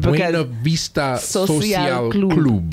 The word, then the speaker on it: Buena Vista Social Club: Buena Vista Social Club.